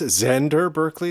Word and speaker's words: Xander Berkeley: Directed by Todd Haynes, starring Julian Moore and I guess Xander Berkeley is how you would say his name.